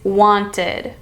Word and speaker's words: wanted: Our first word is wanted. Wanted. This is the ID sound because the root word want ends in T. Wanted, wanted. It's also the new syllable sound.